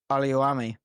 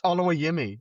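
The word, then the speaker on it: Oluwayemi: Come on, how do you pronounce our goalkeeper's name? Josh Oliuami. That's Olawayemi or Olawayemi.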